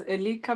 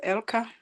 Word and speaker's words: Elika: Yes, you can pronounce as Elika because that's how it's written, but I pronounce it as Elka.